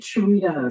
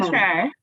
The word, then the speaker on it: Shaitra: your name because I wanted to make it Sharita. So please say it again. Shaitra, you got it.